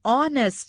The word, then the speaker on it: honest: is silent here an honest man h is silent an h is school